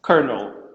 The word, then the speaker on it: colonel: or something like that but it's it's kernel yeah kernel yeah i know yeah